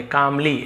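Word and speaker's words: calmly: बुद्धा कामली reply तो भगवान बुद्ध कामली इसे काम नहीं पढ़ेंगे। कामली एल्स यहां पे साइलेंट है। बाकी यहां पे एल पढ़ेंगे। कामली ऐसे रिप्लाई काम यानी होता है शांति।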